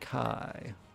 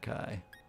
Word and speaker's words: Kay: kai okay that's right it's k not kai it's k let's pronounce k because we write it as k a y and modern idea but the original name is cai at least it's closer to how it's supposed to be all right holly business